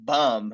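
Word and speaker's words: Böhm: Mandy boom from Germany uh Mandy bum it's pronounced bum and and that athlete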